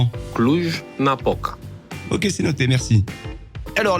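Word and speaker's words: Cluj-Napoca: Mirail, on prononce ça comment ? Clou Napoca.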